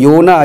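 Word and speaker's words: יונה: 그래서 여기서 요나, 히브리어 요나 이제 많이 들어서 요드, 그 다음에 요거는 이제 그 발음 교고요.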